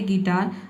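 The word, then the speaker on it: guitar: क्या करना है कि आधा र का जो साउंड है इसको साइलेंट रखना है, आपको बोलना है गिटार, गिटार अ का साउंड दे देना है, ठीक है।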